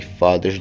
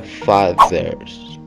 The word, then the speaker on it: fathers: E então vem o TH na palavra fathers. Para pronunciar corretamente o TH, você coloca a língua entre os dentes quando chegar no TH e fala com o som de Z, ficando fathers, fathers.